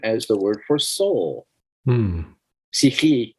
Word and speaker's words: psyche: in ancient Greek is psyche, the same as the word for soul. Psyche in Greek, but spelled the way we spell it, psyche.